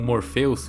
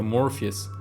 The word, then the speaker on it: Morpheus: No Brasil é conhecido como Morfeus. Em inglês se pronuncia Morphias.